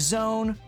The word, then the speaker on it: Zone: It is in fact a Zone, which rhymes with cone, and that is where we're at.